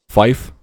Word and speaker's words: fife: 3, 5, and 9 pronounced phonetically is tree, like the thing with fucking leaves on it, fife, F-I-F-E, and niner.